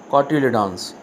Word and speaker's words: cotyledons: The exact pronunciation is cotyledons.